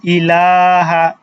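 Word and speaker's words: إله: হবে এটা আমরা দেখলাম তারপরে ইলাহ লামের উপরে খারা জবর আছে তাহলে কিভাবে হবে ইলাহা ইলাহা ইলাহা ঠিক আছে খারা জবর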